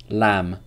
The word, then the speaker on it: lamb: Thank You ang a lamb lamb there's no buh sound in lamb okay this is silent